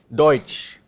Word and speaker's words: Deutsch: What is the sound of this? Oi. Deutsch.